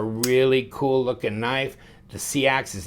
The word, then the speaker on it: seax: Of course, this is the Seax, S-E-A-X, or it could be pronounced as Sax. Derived from the word Saxon.